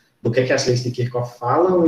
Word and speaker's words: Kirchhoff: A gente provavelmente vai pronunciar em português Kirchhoff, porque a gente aprendeu que CH tem som de X, mas no idioma original, né, por ser um nome próprio, é Kirchhoff.